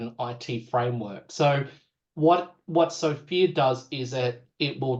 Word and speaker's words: SFIA: And we use a framework called SOFIA. It stands for it's SFIA. I always call it SFIA with a silent O.